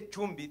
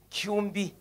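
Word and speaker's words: Kyumbi: U MBI I kumbi you don't say chumi you say Kumi SK is silent 844 632 account Kumi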